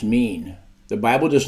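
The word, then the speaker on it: מין: The Hebrew word for kind is O-I-N, pronounced mean.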